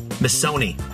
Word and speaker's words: Missoni: Missoni. Rhymes with macaroni.